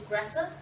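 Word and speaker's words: Grethe: Yes, so my name is Greta. It's spelt T-H-E-G-R-E-T-H-E.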